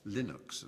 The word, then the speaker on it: Linux: named after his name um Linux or Linux as some people pronounce it and Linux is the